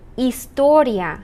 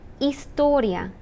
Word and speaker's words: Historia: Historia. The H is silent. Historia.